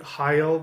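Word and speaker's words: Hagal: And I'm pronouncing it High-Yahl because the G sound very oftentimes in earlier Germanic languages was more of a Y.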